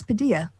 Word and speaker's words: Padilla: Alex Padilla.